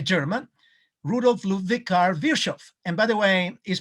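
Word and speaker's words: Virchow: one is a german rule of love vikar virshov and by the way is pronounced virshav and vishov is a genius in medicine because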